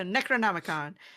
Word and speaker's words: Necronomicon: of the Necronomicon, I think is how you say it. Yeah, you're right. Yeah. The Necronomicon.